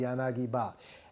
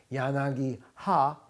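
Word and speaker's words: 柳刃: but it's called the yanagi-ba. And guess what? Yes, this ba comes from ha with a modification because it's difficult to say yanagi-ha. It has been changed to yanagi-ba.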